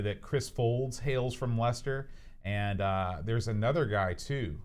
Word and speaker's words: Leicester: Now, how would you pronounce this, Aaron? This place here. Leicestershire. Oh, you're so close. It's just like Leicester the Unlikely.